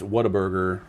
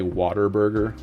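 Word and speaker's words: Whataburger: It was like, "What a burger." But people say water burger.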